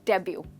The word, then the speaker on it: debut: Right, ध्यान रखिए यहाँ पर एक लेटर है जो साइलेंट है। आई एम श्योर आप समझ गए वो कौन सा है। हम यहाँ टी को नहीं बोल रहे हैं, हम कह रहे हैं डेब्यू।